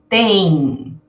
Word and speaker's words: tem: Amanhã tem, então veja só, quando tem a união do e com m, parece que tem um i aí no meio. Eu digo tem, né?